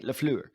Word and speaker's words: LaFleur: keep saying it wrong. Say it with me. Say it with me, right? Lafleur. You got to give that Lafleur.